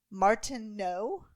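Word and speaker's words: Martenot: the World War one it was created by Maurice Martin no I'm assuming because you don't pronounce the T right in French yeah yeah no he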